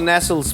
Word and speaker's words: Nestlé: Nestle's a nice coat it's actually pronounced Nestle you keep going back